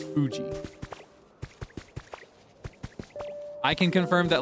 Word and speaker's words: Fuji: I can confirm that like the correct way to say it is Fuji. Fuji like Fujisan like the mountain which is why Mount Fuji is on the logo for Fuji.